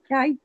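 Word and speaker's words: Gueye: Is that how you say it from Aberdeen? Guy? Jai, yeah.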